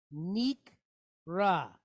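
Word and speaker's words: נקרא: So this guy is telling us, the Mateg is telling us to make sure we pronounce this kamatz as an A.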